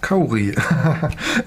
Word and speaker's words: kauri: The handle wood is kauri, a New Zealand native wood. It's pronounced kauri.